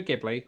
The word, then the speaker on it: Ghibli: but it really expands in later episodes studio ghibli or studio ghibli depending which we pronounce that in a lot of their movies